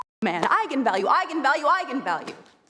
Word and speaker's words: eigenvalue: and said that's right egon value and then apparently the internet went nuts when it came out because apparently it's pronounced eigenvalue that's how you're supposed to say I'm the director don't